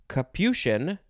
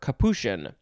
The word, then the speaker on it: capuchin: uh could also be kapushian or kapushen so there's no the ch is not actually a chin a chest sound it's an sh so i'll just say